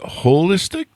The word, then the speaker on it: Wholistic: company and holistic starting with a W like hole hole so do you pronounce it holistic yes we do the whole because it's you know